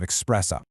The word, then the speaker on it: espresso: a double shot of espresso? Well, spoiler alert, there's absolutely zero X in this strong black coffee. None at all. It's made by forcing steam through ground beans, not by adding an X.